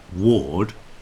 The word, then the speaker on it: war: we take the word ward Ward w a r d Ward rhymes with Lord and war w a r War rhymes with door if we put an